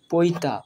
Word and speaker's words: পৈতা: হস্যই যোগ হয়ে রি হয়েছে, সেই জন্য এর উচ্চারণ হবে তৈরি। পৈতা, পয় ঐকার পৈ, তয়ে আকার তা, পৈতা, অর্থাৎ